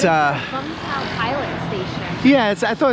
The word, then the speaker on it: Vũng Tàu: So the city's actually pronounced Vung Tau, like Vung Tau. But a lot of the, the anglicized pronunciation sounds like Vung Tau. Everybody says like V-U-N-G, but the Vietnamese don't pronounce it that way.